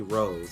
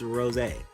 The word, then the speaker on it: Rosé: They say Rose, and I say, some of my friends like, oh, you mean Rose? No, it's Rosé. That's how you pronounce the name.